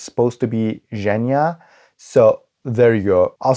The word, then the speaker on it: Genya: this is Genya. Alina is supposed to meet the king, so she needs to be prepared. By the way, I say Genya because Leigh Bardugo and the audiobook say Genya,